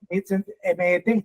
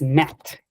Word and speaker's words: met: Sí, meet, M-E-T, meet. Ok, pero es met. La pronunciación es met. Met, correcto.